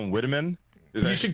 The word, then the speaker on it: Whitman: the color of your skin that made you pronounce her last name as white man instead of Whitman but like either way I'm here to say